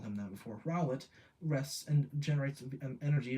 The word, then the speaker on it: Rowlet: potential as a power source during the day ret I that's not how you say his name I promise I've never called him that before rowlet rests and generates an energy via photosynthesis in